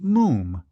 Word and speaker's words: Moffam: "It's spelt Moffam, but pronounced Moom." "To rhyme," said Archie helpfully, "with Bluffing'em."